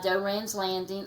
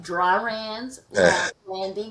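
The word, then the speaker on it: Doiron's Landing: It's right on the bayou by Doran's Landing. Oh wait, let me pronounce that right. Dryran's Landing, because you'll get a bunch of Right. feedback. Oh, that's not how you say that.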